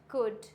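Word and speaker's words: could: कुड, वुड, शुड। Clear हो गया? यहाँ पे सब में क्या है? डी से पहले है और डी से पहले होता है तो ये हो जाता है साइलेंट। कुड, वुड, शुड, ये साइलेंट लेटर्स होते हैं।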